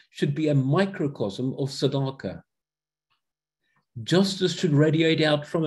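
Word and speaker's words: צדקה: star in his days sadaka that is how the word is actually pronounced so simple as that the second hebrew word is sadaka and that is talking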